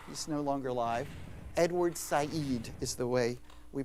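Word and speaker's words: Said: at the top he's no longer alive Edward SED is the way we pronounce it s and Edward SED um is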